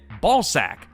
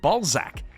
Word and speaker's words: Ballzac: Ballsack. Ballsack is the newest fun. What? No, it's actually pronounced Ballzac.